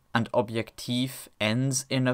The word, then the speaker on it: Objektiv: When a syllable ends in a voiced obstruent, it is replaced by a voiceless one. Hence, this is pronounced rat, and this is pronounced objektiv.